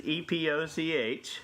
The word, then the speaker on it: Epoch: It's spelled a little differently. It's epoch.